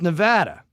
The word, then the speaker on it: Nevada: how do you say it aery Nevada it's Nevada okay cuz it's weird cuz the guy in